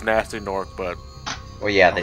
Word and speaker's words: Gnasty Gnorc: Which we know is supposed to be pronounced as Nasty Nork, but...